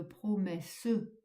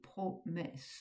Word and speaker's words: promesses: Vous ne dites pas, comme dans le premier vers, plein de promesses, plein de promesses, ce qui ferait 5 pieds. Vous dites plein de promesses, comme si vous mettiez